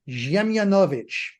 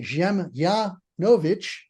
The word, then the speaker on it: Dziemianowicz: In Polish, I would be Dziemianowicz. So you run that D-Z-I-E-M together as Ziem. You put the accent on the I-A, Dziemianowicz, and W-I-C-Z in Slavic being pronounced Vich.